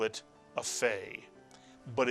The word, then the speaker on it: Fay: And lo and behold, when you take the dagesh out of the Pay, it is pronounced as the English letter F, and we tend to call this Pay a Fay.